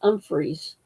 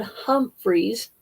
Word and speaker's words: Umphryes: pronounce my main name it's umphreys not Humphreys you hear a lot of Humphreys and I'm sure we're